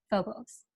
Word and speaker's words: Phobos: One is a very attractive vampire named Phobos, pronounced Phobos.